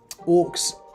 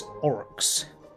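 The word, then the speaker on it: Orruks: I take it with the way you're spelling it because in the Warhammer Age of Sigmar, Orc's name is not Orcs, it's Orox.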